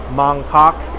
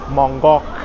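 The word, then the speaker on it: Mong Kok: There's a lot of Hong Kong names and places that look like they should be pronounced that way, but it's not really like uh Hong Kong is Hangong and Mangkok is another area is Mongok and Wanchai is Wai.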